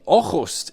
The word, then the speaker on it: Aarhus: But joining me live from Aarhus in Denmark to help with this, expert Jonathan Lowe.